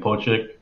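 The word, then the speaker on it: Pocic: - Ethan Poe chick I gotta pronounce the name Poe chick like a mink Bozek so I think those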